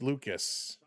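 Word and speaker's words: Lukes: Luke's but pronounced Lucas.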